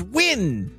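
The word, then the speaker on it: Nguyen: pronounced different ways like in China there's like NG u y n that's pronounced win here this this sounds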